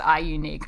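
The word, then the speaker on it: iUNIK: has quite a popular tea tree range is i unique so that's spelt i you nik they're doing a little bit of a funky thing with their letters there um but it is pronounced i unique i am told so tea tree serum and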